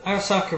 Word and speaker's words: Arisaka: Is it Oriska or Arasaka? I know you pronounce it. It's Arasaka. Arasaka.